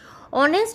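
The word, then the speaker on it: honest: এইযে অনেস্ট শব্দটা রয়েছে অনেস্ট শব্দটা শুরু হয়েছে এইচ দিয়ে কিন্তু নরমালি এইচ এর উচ্চারণ হ কিন্তু আমরা এখানে অনেস্ট বলছি অর্থাৎ এই শব্দে এইচ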